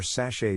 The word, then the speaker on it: sachet: of sachet tl d or sachet does not rhyme with hatchet no matter what anyone